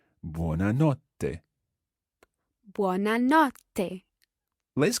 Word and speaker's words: buona notte: and not day again with that TT sound and they are try to bounce on it buona notte day buona notte day